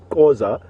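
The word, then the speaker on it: Xhosa: Causa is how you're supposed to pronounce it, with a lot more pronounced click.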